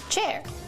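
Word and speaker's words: Qier: Hi, I'm Chair, spelled Q-I-E-R, pronounced Chair.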